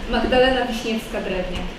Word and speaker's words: Magdalena Wiśniewska-Drewniak: Magdalena Wiśniewska-Drewniak. This is how you pronounce it, but I know it's difficult.